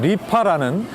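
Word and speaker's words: 梨花: 이화라는 이름의 중국어 발음이 리파라는 돈을 번다는 뜻이어서 그렇다고 합니다.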